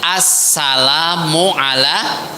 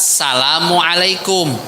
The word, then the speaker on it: assalamu alaikum: Kan kita bacanya assalamu ala, bukan salamu alaikum.